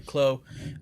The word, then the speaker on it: Clos: French blue macaws basically Chlo spell CL OS you know the French have a lot of words that have a whole bunch of silent letters in there so Clos basically means